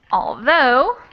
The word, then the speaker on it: although: Although I think 2 syllable. What was just the second syllable? Exactly. So we have 2 syllables and the second syllable is stressed. So it's although, second syllable stressed.